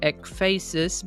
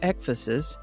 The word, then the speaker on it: ecphasis: I would have pronounced it efaces, but I found several pronunciation guides that indicated it is pronounced ephosis, sort of like emphasis, only with an e instead of an m. So, ephasis it is.